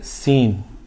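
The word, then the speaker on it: سين: আছে এটাকে আমরা বলি সিন এটাকে আমরা কি বলি সিন সিন এটা সম্পূর্ণ ফার বিপরীত উচ্চারণ হবে এই যে একটা আমরা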